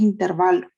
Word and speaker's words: intervalo: en notación de intervalo hay una duda si se pronuncia intervalo intervalo pues es el intervalo porque no hacen todas las pueden buscar en el diccionario en cualquier libro no lleva acento en la entonces la pronunciación es intervalo pero sí es bueno